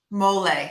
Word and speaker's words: mole: you said it's called um how do you pronounce that sauce mole thank you mole sauce okay and and what